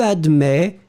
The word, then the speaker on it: admets: You will write it A-D-M-E-T S. Final S is not pronounced, so you will in fact pronounce admet.